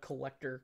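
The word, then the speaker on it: Collectr: as a whole and that's the app called collector collector is spelled c-o-l-l-e-c-t-r uh collector is an app that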